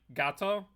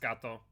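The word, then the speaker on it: gâteau: Isn't it said like gato? I think you're right. I just say it phonetically because of dyslexia, and I always forget that's pronounced gato. But you are correct, if I'm not mistaken.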